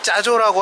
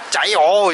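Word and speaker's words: chả giò: 갈 건데, 우리가 왜 짜조라고 하잖아요. 그거 스프링롤 그 튀긴 거. 근데 얘네는 발음이 짜조가 아니더라고요. 보니까 아무리 짜조라고 해도 못 알아들어요. 짜요 이래야 돼요.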